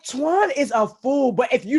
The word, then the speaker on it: Toine: My Toine is spelled a little different. It's Toine instead of the typical TWs.